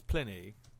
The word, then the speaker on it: Pliny: As a man who studied Latin, it's Pliny. Just to No, pronounce that's it Pliny.